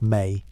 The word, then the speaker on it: me: The tablets also list the me pronounced may, the divine powers or attributes that the Anunnaki possessed, not abstract qualities.